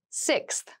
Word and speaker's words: sixth: fifth floor don't you sixth sixth sixth so sixth refers to the number six of something this is a really good word to practice some pronunciation slow down that six that middle part there the sixth book